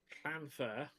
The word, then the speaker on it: Llanfair: Now, most people, you look at that phonetically from an English point of view, you're going to pronounce that lan or lun. So, or, sort of thing. You're going to basically try and overemphasize the L because there's two L's there. And it's not, it's plan.